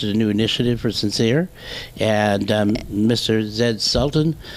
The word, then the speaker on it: Censere: have a question about the name sincere how did it sounds like so sincere like s-i-n-c-e-r-e but it's spelled c-e-n correct then s-e-r-e tell me about the